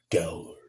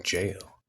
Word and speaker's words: gaol: They spelled jail and Gaol. Which, to be fair, George Martin does that too with Game of Thrones and A Song of Ice and Fire. And people still mispronounce it as Gower.